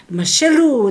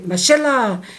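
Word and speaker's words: משלו: Mashalu, they will say mashallah, mashallah. It's not like that.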